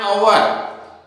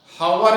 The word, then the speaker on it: hour: for an hour, क्योंकि इसका एच भी साइलेंट है, इसको हम पढ़ते हैं आवर, हावर इसको नहीं पढ़ते हैं, इसको आवर पढ़ते हैं। एच तो सिर्फ लिखना है, पढ़ना नहीं है।